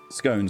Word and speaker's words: scone: Scon rhymes with gone.